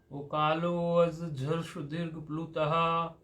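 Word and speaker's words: ऊकालोऽज्झ्रस्वदीर्घप्लुतः: But you should pronounce it jha only.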